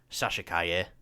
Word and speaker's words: Sasha Calle: You know, I finally found out how to pronounce the name as well. I've heard it so many times and I forget. Sasha Calle as Supergirl.